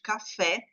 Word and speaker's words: café: Então, no caso de café, a sílaba tônica é o fé, que até tem um acento, né.